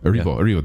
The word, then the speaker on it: Erivo: Because Cynthia Erivo, is that how you say it? Erivo, thank you.